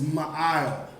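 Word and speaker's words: מעל: that vocabulary above and above is going to be pronounced my out my I'll yeah that's correct that's correct that's correct and it looked like mail all right but is my aisle which means above now we got the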